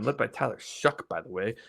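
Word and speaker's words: Shough: N led by Tyler Shuck, by the way. It's spelled really funny, but it's pronounced Shuck.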